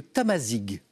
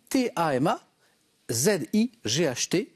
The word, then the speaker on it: Tamazight: spécifiquement à leur langue c'est le tamazic qui s'écrit Tama ZI ght voilà ou tamazight si vous l'aviez à la